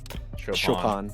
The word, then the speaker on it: Chopin: I still don't know how to pronounce it. Chopin. You said it right.